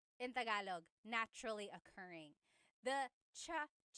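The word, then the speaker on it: tsaa: Almost polyglot said it's like the word cha. Cha in Tagalog is t like the tea that you drink and it's spelled ts aa. Cha. Cha. That's such a Tagalog spelling. I love it. There's the ts sound and then the double vowel uh pronunciation.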